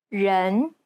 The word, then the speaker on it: 人: Many people tend to mispronounce the E sound in the word people. They commonly substitute it for the English E, as in red. This is incorrect. The Chinese E sounds more like an ugh sound. 人 It's identical to the E sound at the end of the word problem.